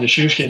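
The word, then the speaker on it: Nichushkin: Am I pronouncing that right? Nushishkin? Good job. Nishushkin, yeah, he's a big Russian, so it's harder to pronounce.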